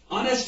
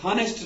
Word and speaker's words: honest: ऑनेस्ट HONEST, ऑनेस्ट है तो एच यहाँ पे साइलेंट रहता है, इसको ऑनेस्ट पढ़ते हैं, एच हॉनेस्ट नहीं पढ़ते, ऑनेस्ट पढ़ते हैं। यहाँ पे एच की साउंड नहीं निकलती तो यहाँ पे ओ की साउंड निकलती है।